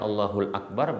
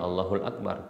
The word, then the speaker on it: Allahu akbar: bukan berarti Imam Syafi'i yang membolehkan allahul Akbar beliau membacanya Allahu akbar tidak hanya saja Beliau mengatakan boleh dibaca dengan allahul Akbar karena hadisnya Allahu akbar maka ini yang lebih utama demikian wallahu Ta'ala nah